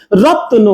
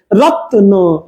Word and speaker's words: রত্ন: পাখি দিয়ে চলে গেল রত্ন সবাই আমার সাথে সাথে বলতে হবে কিন্তু বলে ফিল করতে হবে রত্ন রত রত ত এর কিন্তু এখানে খন্ড ত এর মত অনেকটা উচ্চারণ হচ্ছে হ্যাঁ ত এর সাথে